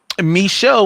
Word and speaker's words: Micheaux: as well as check out my podcast, The Me Show Mission, 2 Men, 1 podcast, every black film ever made. Len, how's that spelled? Because it's not how one might think, right? Me Show was spelled Micheaux.